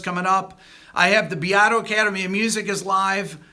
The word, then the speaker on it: Beato: my one thing that I know I pronounce my last name wrong Beato is how I pronounce it but that's how my parents pronounced it so they didn't speak Italian well my mom kind